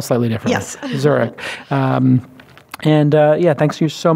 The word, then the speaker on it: Zurek: Angel Co / zurich zu r EK like the city pronounced like the city spell slightly yes zurich and yeah thank you